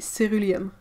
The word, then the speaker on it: ceruleum: Well, like lac de Garance rose, auréoline, et ceruleum.